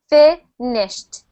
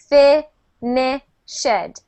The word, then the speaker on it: finished: D or t so here's the example we have finish finished still two syllables good we don't say fined fined that is incorrect we only add the